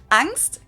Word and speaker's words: Angst: Angst, capitalized in German and with the German ah, basically just means fear.